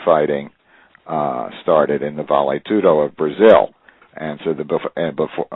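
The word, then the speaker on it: vale tudo: a bad pun of the Brazilian term valet tudo which is often pronounced by Americans is Val tudo and if you think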